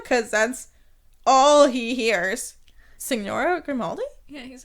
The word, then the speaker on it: Signora: No, you don't pronounce the G. Signora.